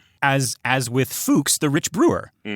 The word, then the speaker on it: Fuchs: That that news station um is named after William Fox, who was William uh Fuchs in Germany.